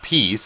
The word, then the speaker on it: Pe@ce: checking out is called peace that's how the title is pronounced but that's not the way it's spelled the letter A is stylized as an @ symbol so this game basically